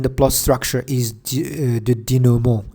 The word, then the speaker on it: denouement: The last phase in the plot structure is the denouement. Denouement is a French word, so we'd better keep its French pronunciation.